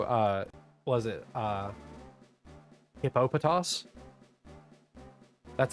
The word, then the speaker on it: Hippopotas: That's a Papatas. Its correct pronunciation is Hippo uh what is it? Uh Hippopotas.